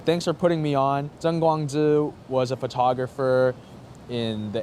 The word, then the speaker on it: Tseng Kwong-Chi: Tseng Kwong-Chi, but it's actually pronounced Tseng Kwong-Chi.